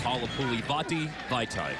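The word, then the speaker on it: Halapoulivaati Vaitai: we've got to say, just to make sure that everybody knows, it's Halapuli Vati Vaitai.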